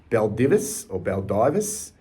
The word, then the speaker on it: Baldivis: In June of 2018, he left South Fremantle and signed with, now, this is how you pronounce it, Baldivis, known as the Brumbies in the Peel Football League in WA.